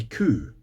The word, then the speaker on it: coo: I don't know if it's even a thing, but for cow, the animal, in Scotland we say coo, and we usually spell it C-O-O.